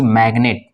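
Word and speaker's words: magnet: इसका आपका कुछ अफवाह जैसे की मैग्नेट इसमें जी को पढ़ा जाता है यानी इन शब्दों के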